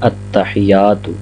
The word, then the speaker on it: التحیات: غلطی کی جاتی ہے وہ یا کو مشدد نہیں پڑھا جاتا، یعنی التحیات۔ تو آپ دیکھ سکتے